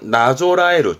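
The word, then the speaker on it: 準える: 이때 발음은 나조라에르.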